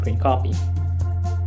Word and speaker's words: scrcpy: It's called scrcpy, or pronounced scrcpy.